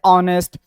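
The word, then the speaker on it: honest: जैसे ऑनेस्ट अब ऑनेस्ट या एच लिखा हुआ तो है पर इसका कोई वजूद नहीं है यहां पर।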